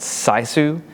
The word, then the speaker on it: sisu: And the word that the Finnish culture has for this is I think and I hope I pronounce it correctly, but it's called sisu.